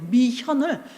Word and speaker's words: 미현: 미현을. 현대하고 발음이 똑같은 거. 미 현다이.